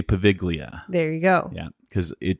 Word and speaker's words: Poveglia: do, I will not be able to say Poveglia.